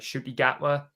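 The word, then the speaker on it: Ncuti Gatwa: And I forget how you say it, like Shuti Gatwa.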